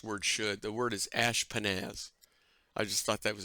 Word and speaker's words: Ashpenaz: The word is ashpenaz.